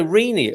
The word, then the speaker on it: Rene: Yes, then you should emphasize the last 2 E's. If there was an accent on the first of the double E's, the emphasis is still on the last E's.